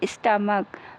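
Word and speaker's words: stomach: जैसे स्टमक, सी एच लगा है, इसका उच्चारण का आता है बच्चों।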